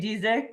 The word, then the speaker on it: Dezieck: your last name so I'm gonna let you pronounce it that sounds fine my name is diic and yeah I'm excited to be here thanks